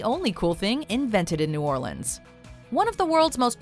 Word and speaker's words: New Orleans: are some honorable mentions number one it's pronounced New Orleans if you want to put a big target on your back that says tourists just try calling it New Orleans in fact you may need a pronunciation guide